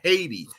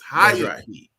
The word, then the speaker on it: Hayati: It is not Haiti. It's Hayati.